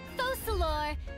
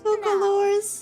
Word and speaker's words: Focalor: I, Focalor, hereby welcome you to the nation of Hydro Oh, it's and acknowledge the value and I've always pronounced it wrong. I thought it was Focalors.